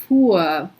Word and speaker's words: fuhr: So you don't have to pronounce the H, just pronounce a long U sound.